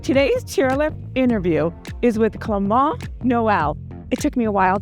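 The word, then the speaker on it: Clément Noël: him during training today's cheer interview is with clont Noel it took me a while to learn the pronunciation but we've trained in practice yeah did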